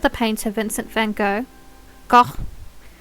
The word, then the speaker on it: Gogh: Gogh. I always say it wrong. I need to remind myself it's like not English.